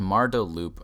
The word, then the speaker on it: Marda Loop: It's called Marda Loop, Marda Loop. I can take the easy one. Rhymes with... Don't say rhymes with poop. I was going to say rhymes with Fruit Loops, but yeah, Isaac, go for that.